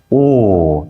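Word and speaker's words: 惡: 오 내가 오호가 오호함이요. 오 내가 오호 이거 아 나쁘다 할 때는 악으로 발음하지만 어찌라는 뜻을 가질 때는 오로 발음합니다.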